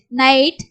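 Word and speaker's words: night: அவு உச்சரிப்பு அடுத்து மியூசிக் நைட் இங்க ஜிஹெச் வந்து சைலண்டா வரும் அப்போ நைட் இது வந்து நாய்ஸ் ஓஐக்கு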